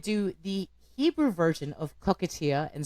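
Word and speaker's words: coquetier: So I looked up and listened to the French pronunciation of cocktail, and it's cockatier.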